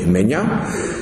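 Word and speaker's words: Maignen: et les erreurs modernes Charles mean ça s'écrit M a I G n e n mais on précise qu'il faut prononcer mean était docteur en théologie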